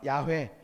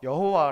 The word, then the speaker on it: 야훼: 문자는 야외 라고 밝혔습니다 그래서 우리는 정확히 발음하면 야외 그러나 번역본 으로서 여호와 라고도 말할 수 있겠습니다 어 근데 여기서